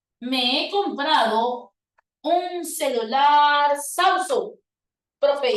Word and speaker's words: Samsung: usted va a decir qué tipo de palabra es Samsung porque no es Samsung es Samsung profe es una palabra grave y como termina en